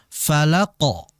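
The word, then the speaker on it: فَلَقِ: Falaq dengan birabbil Falaq Nah falaqo jadi ketika membaca dinaikkan lagi pangkal lidahnya dinaikkan falaqo qo ya Jadi huruf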